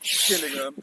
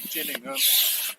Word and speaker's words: Gillingham: We're in Medway, River Medway, near Gillingham, or Gillingham, however you want to pronounce it.